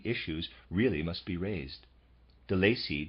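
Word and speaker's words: Delaisi: really must be raised delacy does so I'm pronouncing that the Lacy it's spelled d-e-l-a-i-s-i readers aside let's for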